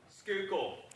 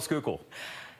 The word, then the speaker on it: Schuylkill: But getting in even closer, okay, who's going to pronounce 76 for me? Schuylkill.